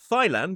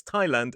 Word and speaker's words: Thailand: It is not Thailand, it's Thailand, and it is not Thomas, it is Thomas.